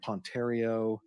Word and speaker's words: Ponterio: They included Ann Ponterio from the DA's office.